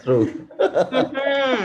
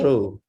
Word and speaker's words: through: Drive through. Exactly. It is the same word, through. Okay. True. Not true. Through.